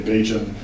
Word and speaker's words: Bajan: Homosexuality was being discussed in a variety of Barbadian, or as locals say, Bajan, media sites that ranged from newspapers to the internet and the radio.